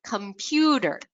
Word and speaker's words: computer: The word computer. You can hear how that pew is a little bit louder, longer, and at a slightly higher pitch.